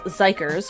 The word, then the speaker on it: xikers: I am so excited so zykers which is spelled x-i-k-e-r-s um have debuted and